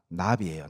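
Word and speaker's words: נביא: 이사야 선지자 할 때 그 선지자의 히브리어가 나비예요 나비 버터플라이가 아닙니다 발음으로 나비입니다 나비 나비의 뜻이 뭔지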